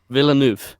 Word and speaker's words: Villeneuve: I was like, fuck yeah, this is a Denis Villeneuve film, or however you pronounce his name, according to Declan. Villeneuve, a Denis Villeneuve film.